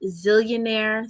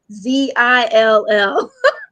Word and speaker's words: Zeallionaire: Facebook to Instagram, at Zillionaire. So that's ZEALLIONAIRE. It is not ZILL. Even though I spell it, people are like ZILL, ZEAL. 2 L's.